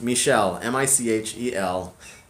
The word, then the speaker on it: Michelle: my my university diploma Michelle is the French version of Michael I think if my name I often joke that if my name were Miguel or Mihiel nobody would ever have a problem saying my name my name is Michelle which automatically makes most Americans definitely kind of doubt that that's the right name to call me so yes Michelle mich al it's the French equivalent